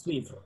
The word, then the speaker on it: suivre: E at the end is suivre. Yeah, the end is not pronounced.